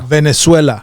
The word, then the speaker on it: Venezuela: Venezuela.